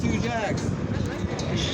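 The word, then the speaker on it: Tujague's: It took me 2 years to figure out how to pronounce Two Jacks, but it is Two Jacks.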